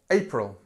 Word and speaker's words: April: to English number four April April this sound a this is where the stress is and here we have our famous schah April April um nice